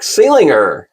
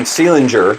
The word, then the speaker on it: Seelinger: I've been calling him Seelinger forever, and the other day I discovered that I was saying it wrong, so I apologize for that.